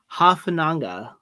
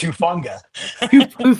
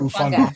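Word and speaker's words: Hufanga: it's Hufunga. Okay, I know. I'm This is interesting because I'm always the one that messes up the names, and I can get this one. And Niners fans in here are not going to be happy about you guys mispronouncing his name. All right, so say it again so I'm not butchering it again. It's Hufunga or Ufunga.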